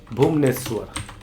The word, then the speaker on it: भुवनेश्वर: भुवनेश्वर, भुवनेश्वर, नेश्वर उच्चारण कीजिए, स्र नहीं है, भुवनेश्वर, यानी तालाबेसा को ज्वाइंट किया गया है।